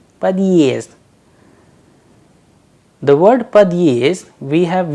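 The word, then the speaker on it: подъезд: The word is padyezd. Padyezd. The word padyezd, we have used exact symbol as we just learned, the heart sign after the letter there. So, there is a small pause, padyezd.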